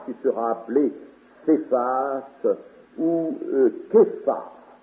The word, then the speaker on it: Céphas: Tu es Simon, fils de Jonas, tu seras appelé Céphas ou Képhas. Ça devrait se prononcer en araméen Képhas.